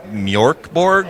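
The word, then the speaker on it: Mörk Borg: So a couple years ago, a crazy game called, I think it's Mjorkborg is how it's pronounced, actually. Yeah.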